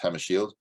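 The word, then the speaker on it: Hammarskjöld: this dag Hammer Shield I know it's pronounced Hammer Shield because I had a clover Shield that worked for me as a Swedish name that's house friendly uh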